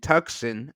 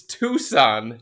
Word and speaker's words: Tucson: sub texter Dave and tuxen asked hold on hold on did you just say tux yeah what is T CS o a n it's Tucson Tucson Arizona I I I hate